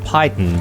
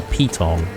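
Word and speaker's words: piton: in uh sorry I I keep calling it Pyon but it's actually a peton I think that's the the right way to pronounce it which someone pointed out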